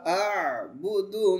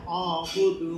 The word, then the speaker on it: أعبد: মাদ আ খেয়াল করে প্রথমটা হামজা তারপর একটা আইন তো খেয়াল করে উচ্চারণ করতে হবে আ বুদু তারপর মা